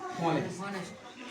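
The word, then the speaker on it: honest: जैसे बोला हमने बोला एन ऑनेस्ट क्या बोला ऑनेस्ट जिसका उच्चारण नहीं आएगा इतना आएगा इसलिए यहां पे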